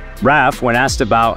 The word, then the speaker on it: Raf Simons: for RAF Simons however these fashion people pronounce it RAF when asked about how